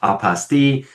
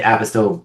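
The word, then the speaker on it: apostille: they actually have the phonic spelling out and they said this is why it's pronounced this way because it's French and it's apaste and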